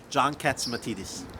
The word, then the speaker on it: Catsimatidis: Let me hear you pronounce it again. John Catsimatidis.